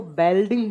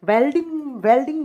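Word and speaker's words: welding: अच्छा, कुछ लोग ना हमारे राजस्थान में वेल्डिंग को बेल्डिंग बोलते हैं, तो हम लोग बी को बी बोलते हैं, हम इसको बेल्डिंग बोलते हैं। वैसे बेल्डिंग गलत होता है, प्रोनाउंसिएशन वेल्डिंग होता है, ठीक है। वेल्डिंग में ऑक्सीजन किस फॉर्म में काम आता है?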